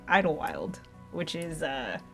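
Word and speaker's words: Idyllwild: so fun fact but it's called Idle Wild and so it's spelled like Idol Shire that's why we say it that way anyway Big Bear is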